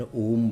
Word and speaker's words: ओम: तो आपको सही उच्चारण पता लगा? ओ कैसे बोलना है? ओम, ऐसे।